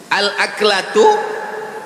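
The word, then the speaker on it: الأكلة: Al-aklatu bifathil hamzah. Cara membacanya, hamzahnya baris atas, a.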